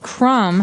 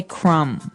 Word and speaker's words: crumb: And and I want to remind everyone that the word crumb has a B on the end, C-R-U-M-B, but we don't pronounce the B. We just say crumb.